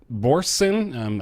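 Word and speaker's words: Børsen: So this is popping up on NeoGAF this week via Danish financial newspaper Borsen. I'm sure I mispronounced that.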